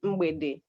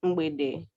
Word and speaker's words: mgbede: Evening, mgbede. M-G-B-E-D-E. Then night, abali. A-B-A-L-I. Wonderful. So you Now don't we do- really pronounce the G. Sorry? You don't really pronounce the G.